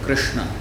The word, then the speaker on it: Kṛṣṇa: But then R, which in some languages it is pronounced as Ru. In Gujarati and Telugu they say Ru, and in Bengali they say Ri. In Sanskrit it is R.